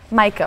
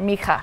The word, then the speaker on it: Micah: That is Micah, or Micah [pronunciation difference].